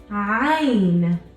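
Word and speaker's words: ع: Ein fine I'm now this is a sound that a lot of non-arabic speaking people have a little bit of trouble with because it's not aiming it's a Hein this sound is coming from the bottom of your throat I mean whereas the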